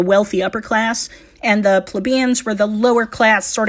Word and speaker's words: plebeian: lower class, called the plebeians. Now, a lot of people pronounce it plebeians, but the dictionary says plebeian, so we'll use that.